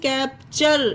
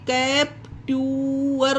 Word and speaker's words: capture: जैसे कि एग्जाम्पल देखिए, CAPTURE कैप्चर, इसे क्या पढ़ा गया, कैप्चर। अब इसे कैप्ट्यूअर नहीं पढ़ा गया ना, टी को टा पढ़ा गया, नहीं पढ़ा गया, टी को चा पढ़ा गया है यहाँ पर, क्योंकि